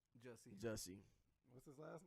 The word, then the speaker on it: Jussie: How you pronounce his first name? Jussie.